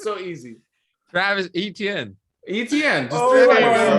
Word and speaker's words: Etienne: It's 3 letters, bro. ETN. Just say it like that. ETN, bro. It's so easy. Travis Etienne.